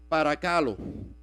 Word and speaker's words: παρακαλῶ: Esa palabra exhorto, cuando uno lo busca del original griego, es parakalo. O por lo menos yo creo que en español se pronuncia así.